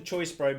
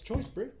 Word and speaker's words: Choice Brew: I was about to say, are you saying it wrong? It's Choice Brew?